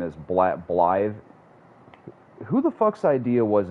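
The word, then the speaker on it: Blaidd: It's not Blad. It's Blythe. It's spelled B-L-A-I-D-D, but it's pronounced Blythe.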